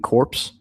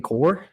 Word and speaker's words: corps: Did you just say receiving corpse? Yeah. Receiving corps? Corpse. Well, it's corps. That's how you say it. Like the Marine Corps.